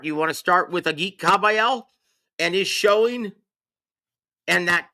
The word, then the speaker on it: Agit Kabayel: And the proper pronunciation, from told to me by ring announcer extraordinaire Thomas Triber, is Agit Kabayel. That's how you pronounce his name.